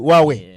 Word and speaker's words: Huawei: Is it Huawei? Yeah, it's Huawei. There's no who.